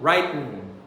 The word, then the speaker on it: writing: Você pode falar writing, você pode falar writing, ou você pode falar writing. Você engole esse T.